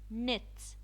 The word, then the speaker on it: knit: Knit, knit. The K, it's silent.